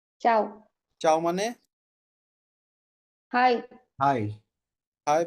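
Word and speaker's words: ciao: প্রথমটার উচ্চারণ চাও।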